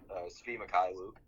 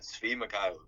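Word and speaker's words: Svi Mykhailiuk: Yeah, Svi Mikhailuk is how you say his name.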